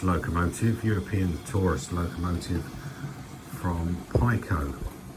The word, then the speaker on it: PIKO: European tourist locomotive from pyo I understand you possibly should pronounce it Pico but so we don't get confused with Devon's finest um I'll stick with pyo for now now this one like